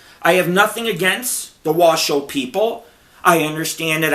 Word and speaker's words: Washo: have nothing against the Washo people I understand that I Mis I mispronouncing I said waso it's it's because I'm